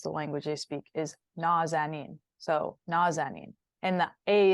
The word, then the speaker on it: Nazanin: So it's kind of a very slight difference, but Nazanin. Nazanin.